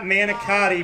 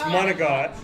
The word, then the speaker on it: manicotti: is so it's and it's not manicotti my lord it's monogat it's not ricotta it's